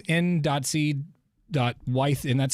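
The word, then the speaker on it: Wyeth: Wythe, N.C. Wythe, and that's spelled W-Y-E-T-H if you want to look him up.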